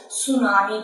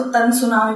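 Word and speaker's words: tsunami: ठीक है, सुनामी, पहले मैं इसके आगे टी लगता है ना, TSU ऐसे करके इसका वो होती है ना उच्चारण, तो मैं इसको तन सुनामी बोलती थी पहले के वक्त पे, लेकिन इसे सुनामी बोला जाता है।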